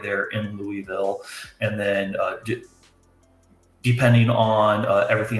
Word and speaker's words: Louisville: Louisville, that's how locals say it, by the way. Right. Louisville, it's that Kentucky tongue.